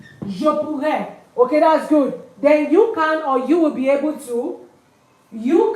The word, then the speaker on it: pourrais: It's pronounced pou. Je pourrais.